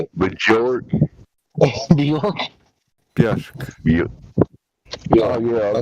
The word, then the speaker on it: Björk: Björk.